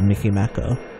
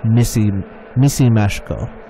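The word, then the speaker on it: Micimackó: The Hungarian Winnie the Pooh is called Mickey Mako. Oh, pronounced like Missy Mashko.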